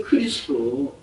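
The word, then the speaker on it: Χριστός: 엘라 발음 자체가 크리스토스예요. 근데 토스가 토스라고 발음을 안 하고 그냥 스도 약화가 돼 가지고 크리스도 이렇게 발음을 합니다.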